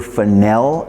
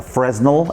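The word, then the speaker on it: Fresnel: And I'm actually going to have a newer finel attachment, a Fresno as it's spelled attached to the light.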